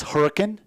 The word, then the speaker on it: Hurricane: 5'6" freshman out of Hurricane, Utah. Hopefully I am saying that correct. I believe the proper pronunciation for a Utah native is Hurricane.